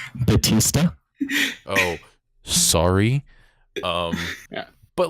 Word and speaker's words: Bautista: Because It's pronounced Batista.